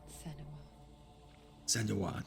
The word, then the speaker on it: Senua: alerting the others let me tell you about Sena SWA that's how you say it her story has